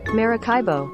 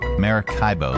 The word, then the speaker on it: Maracaibo: It's the same pronounceify lady. Maracaibo. Maracaibo.